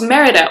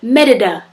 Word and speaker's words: Merida: and dancing about peace our next stop was Merida or as my sister Raya likes to pronounce it medida there were some really cool Roman ruins around